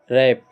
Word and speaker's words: wrap: मतलब W के बाद अगर R हो तो वहाँ पे हम W का उच्चारण नहीं करते हैं। जैसे क्या होता है कि रैप, रैप, यहाँ पे WRAP है तो यहाँ पे रैप हो जाएगा।